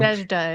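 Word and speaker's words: Nadezhda: Full of what the Russian Jewish writer and I can't pronounce this correctly Nazada Mendelstone Mendelson or Mendlestone Nazda it is.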